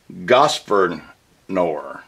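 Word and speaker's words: Grosvenor: This sword belonged to General Gosvernor. Let me spell it.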